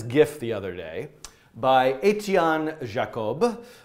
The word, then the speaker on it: Etienne Jacob: So I found this GIF the other day by Etienne Jacob, with my American pronunciation.